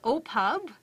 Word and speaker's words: OPPAV: really knows the lingo it is pronounced as oppos and for the next